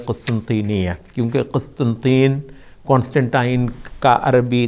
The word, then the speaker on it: قسطنطینیہ: کو ہم اردو میں قسطنطنیہ کہتے ہیں، حالانکہ عربی میں اس کا صحیح تلفظ ہے قسطنطینیہ، کیونکہ قسطنطین کانسٹنٹائن کا عربی تلفظ ہے.